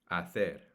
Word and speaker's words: hacer: To do and to make is the exact same word in Spanish, hacer or hacer. Yo hago, remember, the H at the beginning of the word is silent in Spanish.